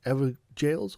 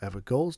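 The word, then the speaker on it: Evergaol: these are found in ever jails or ever goals depending on your pronunciation as your runes will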